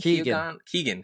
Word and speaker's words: Keoghan: It's Barry Keoghan. Keegan. It's just Keegan? Yeah.